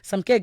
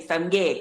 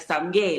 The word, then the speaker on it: Samke: Samke, good morning. Good morning, Taco. I love the way you say my name, Samge, because some people are Samke. like Samke, Samke, and you're like Samge, like home.